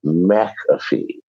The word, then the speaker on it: McAfee: people saying the caffeine i was always told it was mcafee by my parents but listen my parents